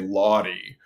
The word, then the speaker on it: Laude: I'm sure my Italian great grandfather didn't say Lawdy, and whoever in my family decided that's how it should be pronounced. That's unfortunate because it sure doesn't look that way.